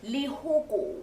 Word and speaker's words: Lehoko: Lehoko. Yeah, I said it right. Yes. I said it right. This is Yes. the first official Yes. episode Bueno. of Iconic. You're doing Shelton Forbez, Oh. Lehoko.